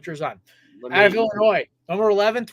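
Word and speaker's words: Jer'Zhan: So number 2, Johnny Newton out of Illinois, even though they pronounced it here on Pro Football Focus as Jarzon Newton. Jarzon. Okay, we're going with Jarzon.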